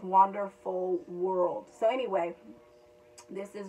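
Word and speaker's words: Wanderful: it's wander like w-a-n-d-e-r dash f-u-l so it's wonderful world so anyway this is really gorgeous so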